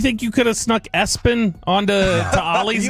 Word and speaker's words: ESPN: Right now, the SIDs of the team, you know, whoever that they'll say, "No, it's pronounced Espen," but it's it's spelled ESPN and then last name Lamp.